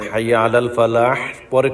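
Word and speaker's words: فلاح: listen to মি প্রত্যেকটা শেষে হা উচ্চারণ হবে আর শুধু হাইয়া আলাল শেষে হলে হা উচ্চারণ হবে খেয়াল করে শোনেন হাইয়া আলাল ফালাহ ফালাহ ফালাহ আর বাকি যা আছে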